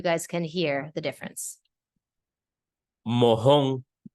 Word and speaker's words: mojón: Mojón. Mahón. Mojón, mahón. El mojón. El mahón.